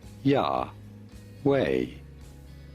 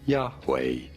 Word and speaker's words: Yahweh: Y HW is the four-letter name of the Hebrew god spelled this way in Hebrew and pronounced uh wait a minute. Yahweh Yahweh.